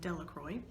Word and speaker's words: Delacroix: jones and dickie delacroix the villagers pronounced his name delacroix eventually made a great